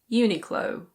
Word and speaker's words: Uniqlo: In British English this is Uniqlo. Uniqlo. In American English it's very similar. It's just the last sound that changes a bit. It's Uniqlo. Uniqlo.